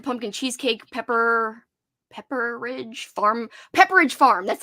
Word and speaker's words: Pepperidge Farm: we grabbed the pumpkin cheesecake pepper Pepperidge Farm Pepperidge Farm that's how you say it I I knew